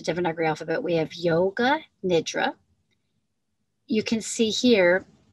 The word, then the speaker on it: Nidra: You can see here with this N and the short I sound, it's often pronounced Yoga Nidra. As I can understand it, it's with the short I sound, it's Nidra.